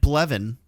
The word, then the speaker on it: Blevin: um yeah so Lieutenant blevin um yeah which bleven is an interesting Star Wars name rhymes with Kevin it's just Kevin with a b and an L with an L too yeah 11 Smith l330 blevant l330 11.